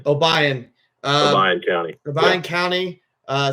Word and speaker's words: Obion: probably gonna mispronounce this oh how do you pronounce your school obay obay OB County obay County uh Central High School